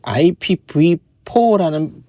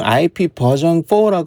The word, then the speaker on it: IPv4: 이런 거 읽을 때는 보통 IP 버전 4라고 있습니다.